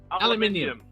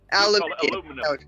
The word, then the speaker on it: aluminium: are made out of aluminium but yeah aluminum aluminum yeah we have the emphasis on the seconds together aluminium another one that i